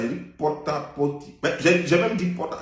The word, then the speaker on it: Porta Potty: J'ai dit pota-poti. J'ai même dit pota. D'ailleurs, c'est pota. C'est même pas porta. C'est pota-poti.